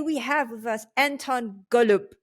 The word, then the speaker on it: Golub: Today we have with us Anton Golub. Am I saying it right? Golub? Yeah. Anton is an advisor, founding